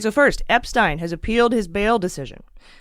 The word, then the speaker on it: Epstein: If you have an E and an I together, the last vowel does the talking. So the first vowel does the walking, the last vowel does the talking. So if it's E-I, it's pronounced I, like Epstein.